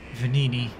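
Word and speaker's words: Venigni: I gotta remember that that is actually pronounced as venini save a nickname agent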